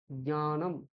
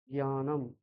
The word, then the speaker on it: জ্ঞানম: সংস্কৃতে কিন্তু জ্ঞানম, এখানে দুটো অক্ষর হালকা ভাবে প্রকাশ পাবে, একটা জ আর একটা ঞ। জ্ঞানম। হ্যাঁ, এইরকম হবে জ্ঞানম। ঠিক আছে? ওটা বাংলায় আমরা জ্ঞানম বলি, এই জ্ঞানমটা সংস্কৃতে ভুল উচ্চারণ।